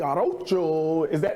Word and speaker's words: Arocho: Jose Arocho, did I pronounce it correctly?